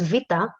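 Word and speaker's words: Βήτα: have to mention is the letter vita so the name is vita but the pronunciation is v so a common mistake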